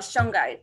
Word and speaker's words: shungite: Oh no, but I remember now what I was gonna ask you about shungite. Is it shungite? Is that how you say it? Shungite, yeah. Shungite.